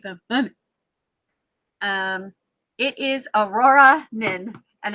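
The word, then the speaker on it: Auroranin: Um, it is Aurora Nin and it's spelled incorrectly.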